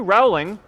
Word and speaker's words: Rowling: JK Rowling got rejected 12 times.